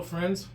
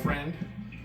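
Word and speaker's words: Freund: well hello friends uh my name is Friend yeah that's how you pronounce my last name it's f reu n d it's Geral word for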